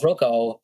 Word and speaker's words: Roku: Yeah, Roku? Roko, yeah.